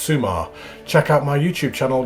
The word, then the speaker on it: Summa: So it says, it's summertime at Summa Beach, pronounced Summa.